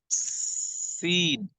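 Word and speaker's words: س: Seen again will has to be pronounced with the same part. This part of the tongue will come here, and seen will has to be pronounced, right? One thing should be remember, that seen will has to be pronounced with the voice of the whistle, the thin voice of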